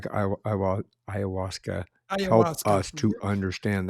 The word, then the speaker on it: ayahuasca: So I may mess this up when I pronounce it. Ayahuasca. Ayahuasca.